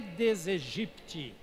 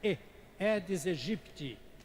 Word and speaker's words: Aedes aegypti: né da onu é deseje pitt não é aedes aegypti que porque ela tinha lá tinha essas duas palavras aí quando estão juntas se pronuncia e dizer jipe ti então podem fazer isso